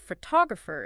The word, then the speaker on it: photographer: Like photograph is stressed on the first syllable, but photographer is stressed on the second.